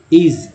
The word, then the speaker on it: is: तो पढ़ते हैं इट इज़, यहाँ पर एस को ज बोलते हैं, लेकिन बहुत कम लोग ध्यान देते हैं कि ज उच्चारण कर रहे हैं, इस नहीं पढ़ते, इज पढ़ते हैं।